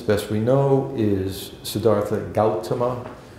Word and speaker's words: Gautama: This guy's name, as best we know, is Siddhartha Gautama. I usually pronounce it Gautama, but some people who know this better than I say Gautama.